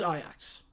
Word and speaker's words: Ajax: No, that's how Ajax is pronounced. In the Netherlands, it is. You know, I don't know the one in Ontario. I don't know how that one's pronounced. But the club, I was pronouncing like the club in the Netherlands. That one is Ajax.